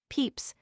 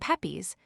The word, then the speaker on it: Pepys: Peeps which is the received one at Magdalene College and Pepes which I learned from Mr.